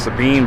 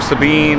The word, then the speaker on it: Sabine: Where I'm at right now is called Sabine Bridge.